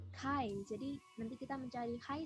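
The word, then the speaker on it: χ: yang pertama ada yang kayak huruf x itu dibacanya Hai jadi nanti kita mencari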